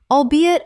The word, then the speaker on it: albeit: The project was a success, albeit a smaller one than originally projected when the funding was first approved.